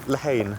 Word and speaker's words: Lehane: Lehane. Lehane.